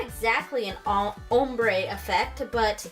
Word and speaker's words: ombré: so what's funny is I have always said that word OMB are e as ombre that's how I've always pronounced it I never pronounced it ombre because I'm from Southern California so I think of the Spanish word ombre which means man it always confuses me so I always pronounced it ombre but apparently it's pronounced hombre so do you guys